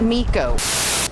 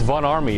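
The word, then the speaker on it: Von Ormy: And for the record, No, it is not Miko. It's Von Army. It's pronounced with an A.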